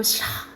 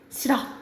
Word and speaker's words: 싫어: 이렇게 발음하는 거죠 그렇죠 예를 들어서 이거 싫어 이렇게 안 하잖아 그지 싫어 이렇게 되는 것들이 히 탈락이고 리을 탈락은